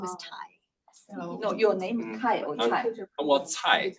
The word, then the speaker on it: Tsai: Well, Tsai, like Tsai Yeah, Ing-wen.